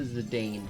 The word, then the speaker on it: Zidane: the well because I mean it's an A and E right so it to me it always reads like it should have been a long a um but I do